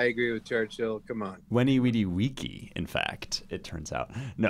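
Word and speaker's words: veni, vidi, vici: and all ben, and long live Weenie Weedy Weechy. I agree with Churchill. Come on, Weenie Weedy Weeky.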